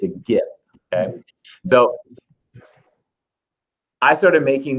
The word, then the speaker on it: GIF: you want to, but you're wrong if you pronounce it with the soft J. It's a hard G. It's a GIF.